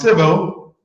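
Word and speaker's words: Cybele: sabeti writes with us this is pronounced civil mm-hmm Sybil belongs to the Roman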